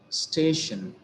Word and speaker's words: station: How many syllables do we think this particular word has? It has two syllables. They are station. Shan is the ultimate syllable and the syllable which is preceding it is stay. So we have given the stress on stay.